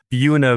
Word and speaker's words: Buena: had to actually write a little note to myself here on the side to remind myself it's like Buick. Buena Vista.